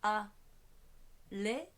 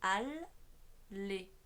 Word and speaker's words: Alexandre: C'est pareil dans Alexandre. On dit pas a les, c'est al les.